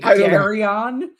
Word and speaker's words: Gerion: And Gerion uh he it's just Gary with a fancier name. It's actually Gerion.